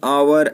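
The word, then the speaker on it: hour: जैसे दोस्तों rule number B है, जिन शब्दों में एच साइलेंट रहता है, जिन शब्दों में एच साइलेंट रहता है उनसे पहले एन का प्रयोग किया जाता है, जैसे एन आवर, an honest man.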